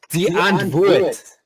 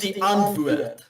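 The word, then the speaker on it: Die Antwoord: Oh, so Dianthword, it's pronounced Dianthword. It's Afrikaans, but it's all good. There's no hate. I'm just educating. Sorry. Right. Carry on. Pronouncing it wrong. It's pronounced the antwoord.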